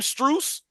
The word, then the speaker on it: Strus: Strus.